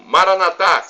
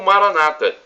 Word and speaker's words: Maranatá: E do aramaico eu clamo Maranatá, como dizemos nós católicos, ou Maranata, como dizem nossos irmãos separados, os evangélicos ou protestantes.